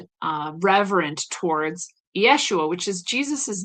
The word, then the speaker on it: Ieschoua: It is called Yeshua, and it's not spelled Yeshua. It's spelled Ieschoua, Yeshua, Grand Architect of the Universe by Christian Rebis.